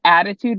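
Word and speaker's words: ADDitude: seeing these people yeah so it's a called attitude magazine it's spelled add Etude and they have a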